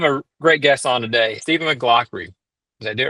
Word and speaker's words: Stephen McLaughry: I have a great guest on today, Stephen McLaughry.